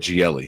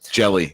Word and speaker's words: Gelli: I said Gielli. Gielli, even though there's no I. Gelli. Whatever. Jelly.